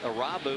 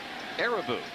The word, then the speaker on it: Irabu: learned or we thought we had learned that arabi was the right pronunciation of his name but arabou as reported by arabouz translator that it's not a robu that it is ereboo so we will try